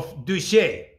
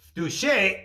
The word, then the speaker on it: в душе: By the way, в душе, if the stress is on the last syllable, means in the soul. And if the stress is on the first syllable, it means in the shower.